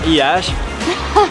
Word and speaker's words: Iași: Y bueno, Iași, que se escribe Iași, pero se pronuncia Iași, tiene, bueno, alguna historia